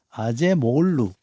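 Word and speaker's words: Acemoğlu: 좋아요음 발음이 좀 어렵습니다만 요즘 발음은 이제 마지막 거쳐 거쳐서 요즘 발음은 아제 모글루라고 하대요 처음에는 모글루 아고 처음에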